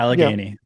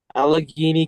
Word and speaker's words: Allegheny: and the county staying within, how do you pronounce it? Is it Allegheny Yep, yeah, Allegheny. Allegheny County, staying within that county, um obviously less tax.